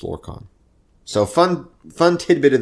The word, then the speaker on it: Lorkhan: the correct pronunciation because somebody says lorcan he says no it's lord khan so fun fun tidbit